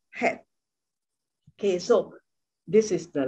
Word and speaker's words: Chet: C-H, but the C is not pronounced. So it's pronounced like Chet.